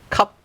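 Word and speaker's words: 咳: So, for example, in the Cantonese pronunciation of the Chinese character, this is cup, up, cup, which means cough.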